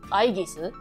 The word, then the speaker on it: Aigis: In Japanese, it's Aigisu. But I don't know what she's called, like how you pronounce her name in English.